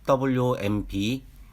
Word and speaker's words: womb: 그리고 단어로는 wmb 그리고 tomb입니다. wmb와 tomb는 두 단어 모두 알파벳 mb로 끝나는 단어들입니다. 이때 알파벳 m 뒤에 알파벳 b는 묵음입니다.